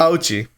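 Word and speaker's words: Auchi: Ouchie.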